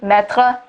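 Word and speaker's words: mètre: french and english and in french meter is spelled m-e-t-r-e metra so oh gosh it sounds a lot like the verb to put now that i think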